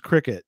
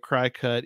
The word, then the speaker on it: Cricut: It's probably pronounced cricket, but to avoid the confusion, I'm trying to say it CryCut, even though that's not the proper pronunciation, just so people don't